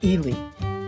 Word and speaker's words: Ely: So if you're wondering why your Christmas trees are more expensive, our destination was near the town of Ely.